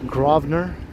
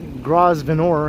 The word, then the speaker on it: Grosvenor: how you pronounce it perhaps this grovner i'm pretty sure it's not grosvenor anyway that's how you